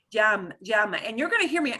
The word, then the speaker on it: llama: Llama, and you're gonna hear me. I do the little bit of the je before the Y, but really, really faint. Llama.